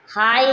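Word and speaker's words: high: भूल गए थोड़ा यदि किसी शब्द के अंत में जी एच या जी एच टी हो तो जी एच साइलेंट रहता है किसी शब्द के अंत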